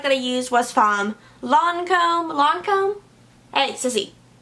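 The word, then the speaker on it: Lancôme: Next product that I used was from Lancome. Lancome? Hey, Sissy. It's Lancome, right? Lancome. I always pronounce it Lancome, and the Ulta people corrected me. They're like, it's Lancome.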